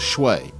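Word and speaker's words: swai: Those two species are basa and shuai, which most Americans pronounce as shui.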